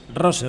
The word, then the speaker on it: Rose: Marco, Marco Ross, el entrenador del Marco Royce es jugador de fútbol. Ros Rose.